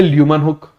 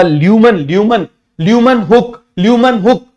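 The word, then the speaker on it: Leeuwenhoek: एल ऐसे लिख दूं, एल, इसकी स्पेलिंग में HOEK ऐसे लिख देते हैं, HOEK है तो हुक ही। क्लियर है? कुछ भी बोलो, हुक तो हुक ही रहेगा।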